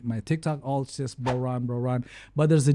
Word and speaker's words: BroRon: luckily luckily you know the word bro it rhymes with my name bro Ron so it it has